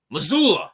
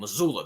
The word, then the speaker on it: Mazzulla: I don't know how to pronounce his name. Mazzulla. That's his name. Mazzulla.